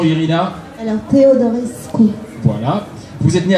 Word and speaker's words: Teodorescu: Vous me corrigez sur la prononciation, Irina? Alors, Teodorescu.